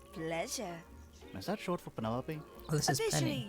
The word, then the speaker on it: Penelope: Is that short for Penelope? Oh, this is Officially, Penny. yes, but I never can be bothered with all 4 syllables of it.